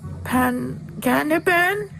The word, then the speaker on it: Panganiban: How do you pronounce that? Banana. Panganiban?